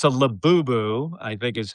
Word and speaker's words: Labubu: Well, another gift, it's a Labubu, I think is how you Yes, a pronounce it, Labubu.